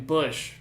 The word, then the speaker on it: Busch: In honor of him, we're drinking Bush. Not light, just Bush normal. But the C is silent. That way, it sounds more like the actual.